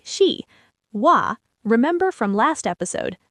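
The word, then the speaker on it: は: She like she wa remember from last episode. This particle is pronounced wa not ha.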